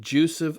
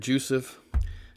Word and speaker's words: jussive: Now that's a funny word, jussive. It's actually probably supposed to be pronounced jussive. I'll just say I'm probably weird the way I pronounce that. I'll try to remember to say jussive.